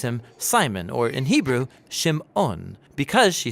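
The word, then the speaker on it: שמעון: and she names him Simon or in Hebrew shim ohn because she says the Lord has some odd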